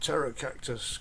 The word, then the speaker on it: Pterocactus: cactus family it's um it's called Terror Cactus because it's got Wing seeds and Terror spelled with a t a p uh means winged in Greek and um it lives